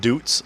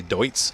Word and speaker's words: Deutz: I've always been calling it Doots, like Doots Far, but it's actually Deutz. And that makes sense because Deutschland is Deutsch.